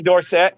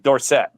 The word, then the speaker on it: Dorsett: In college, he was Tony Dorsett. When he got to the pros, he says, pronounce it Dorsett. Yes. Yeah. His dad was Dorset. Everybody else in his family was Dorset, but he wanted to be Dorset.